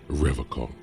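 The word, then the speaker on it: Revachol: rev hall he pronounces revok with a hard k unlike other people serious question time this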